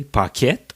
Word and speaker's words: Paquette: Donc, quand on voulait être sûr que les autres sachent de qui on parlait, c'était important de prononcer Paquette ou Paquet.